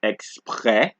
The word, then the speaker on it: exprès: And for S, you don't pronounce the S at the end of the word. So you have to, for this word, it is exprès, toi, vous, right? Exprès, toi, vous. Exceptions being fils and bus.